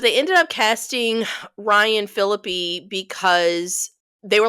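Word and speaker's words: Phillippe: away so Barry is Ryan Felipe is that's how you say his name right no that's how you order your burrito phpp so Barry is played by Ryan philippy Barry's like a quarterback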